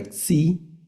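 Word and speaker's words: ξι: n, la letra ni, la letra xi que es nuestra x, ¿verdad?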